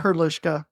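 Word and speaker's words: Hrdlička: Hrdlichka.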